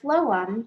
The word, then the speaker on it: phloem: And the word phloem starts with a PH, like in the word phone.